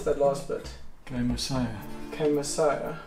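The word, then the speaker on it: kaimosae: Dendroaspis jamesoni kamisu, or how do you pronounce that last bit? Kamisaya.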